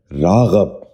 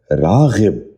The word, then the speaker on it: راغب: نشین کر لیجئے، راسخ۔ 10واں لفظ ہے راغب۔ یہ غلط تلفظ ہے۔ درست تلفظ ہے راغب۔ دوبارہ سنیے، راغب۔ بچوں آپ بھی ذہن